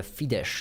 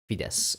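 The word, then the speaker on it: Fidesz: yeah Hungarian elections uh fides is called right I'm doing it from me with an S because that's an S and a z and we pronounce it as an S fides all right in Poland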